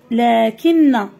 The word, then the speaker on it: لكن: نلاحظ ونكتب اذا لكن لكن لاحظوا معي كلمه لكن هناك الف ننطقها ولا نكتبها اذا غتدربوا عليها مزيان